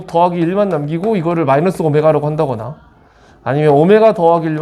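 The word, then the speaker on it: ω: 그래서 자 그래서 이거 오메가라고 읽자. 일단 그지? 오메가라고 읽어야 돼. w가 아니지.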